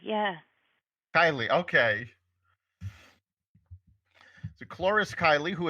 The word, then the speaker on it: Kylie: are joined today by chloris am I pronouncing your last name right actually is chloris Kylie yeah Kylie okay so Cloris Kylie who is an expert